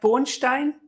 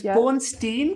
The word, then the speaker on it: Bornstein: Sorry, I read their surname as if it was German, like Bornstein. Oh, right. But it's Bornstein because it's American.